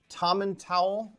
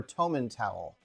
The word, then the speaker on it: Tomintoul: find it anywhere so I've seen lots of pronunciations for this um tommen towel or Toman towel uh I think that's tommen towel anyway this is a